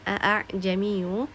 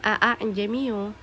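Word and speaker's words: ءَاعْجَمِيٌّ: Nah, pada kata a'jamiyyu wa 'arabi di situ terdapat tanda tashil a'jamiyyu. Jadi kita tidak boleh membacanya a'jamiyyu. Nah, jadi alif atau hamzah yang keduanya harus diringankan atau disamarkan di situ.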